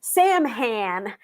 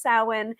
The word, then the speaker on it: Samhain: i was one of them called it um sam han when i started and then it's just like no no it's pronounced samhain i know it doesn't look like how it's